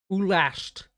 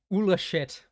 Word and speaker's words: Ulasht: Ulasht. Okay. That's better than me saying Ulashit. Ulash. That makes a lot more sense, in fact.